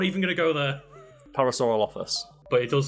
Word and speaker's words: Parasaurolophus: Yeah, so I've got that list in front of me now, so I believe it's pronounced Parasaurolophilus. But there's not an... Okay, I'm not even going to go there. Parasaurolophus.